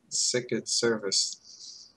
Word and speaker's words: Sicut Cervus: Yeah, it's just Sicut Cervus. Oh. Really? That's it? No. No, I was not. You added way too many syllables.